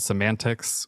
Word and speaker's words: CMNTX: So we're releasing it on this record company that my friend is involved with called Semantics, which is spelled CMNTX, I believe.